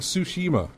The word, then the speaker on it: Tsushima: yeah no close enough it's like tsushima sushi tsushima yeah would you even make a mistake what did i say ghosts oh it's just ghost ghost of tsushima it gets me on